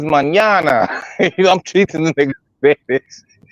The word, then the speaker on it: mañana: The nigga saying manana. I'm like, no, niggas mañana.